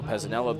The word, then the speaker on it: Pezzanella: Shares a common hometown with another one of his teammates, Nico Pezzanella, both from Sparks, Nevada. Notice the correct pronunciation of that word.